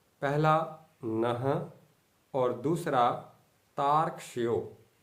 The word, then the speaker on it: तार्क्ष्यो: तार्क्ष्यो, तार्क्ष्यो। ध्यान दीजिएगा, यो में जो रेफ लगा हुआ है उसका उच्चारण अर्थात आधे रा का उच्चारण ता के बाद ही कर दिया जाएगा।